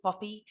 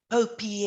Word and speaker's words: POPIA: personal information act and i still call it poppy about 11 years ago and for syllable 12 years ago we all used to call it poppy but i know these days they call it popey and the popey act and papaya and the